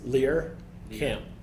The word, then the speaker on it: Lehrkamp: I've heard Lehrkamp, and Lehrkamp. Is there one that we can lock in on? Any chance? Lehrkamp. Lehrkamp, okay.